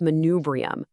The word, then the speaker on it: manubrium: Take a look at manubrium, pronounced manubrium.